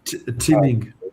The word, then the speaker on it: Qiming: Quick, am I pronouncing? Qiming.